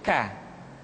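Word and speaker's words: ك: Diucapkan dengan mengangkat pangkal lidah kita ke posisi di depan huruf Qaf. K. Diucapkan dengan mengalirkan nafas kita.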